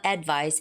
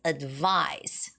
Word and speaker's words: advice: And when you said advice, it's not advice, it's advice. Advice.